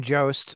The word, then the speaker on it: Jost: do you say your last name Jo Shane Joost vocals for cognitive um I think recently signed